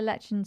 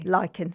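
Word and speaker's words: lichen: And you mentioned there lechin sclerosis which I think is that did I pronounce it properly? Lychen sclerosis. Oh yes, lychen sclerosis. There we go.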